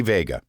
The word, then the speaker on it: Veiga: excited to have as a guest today Vega and am I pronouncing your last name correctly yes you